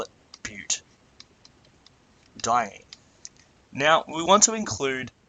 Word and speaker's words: butadiene: We're simply adding an A here so that we can pronounce butadiene. So it's really just due to this DI here that we've added an A so we can pronounce it easier.